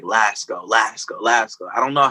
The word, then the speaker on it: Lásko: Lásko.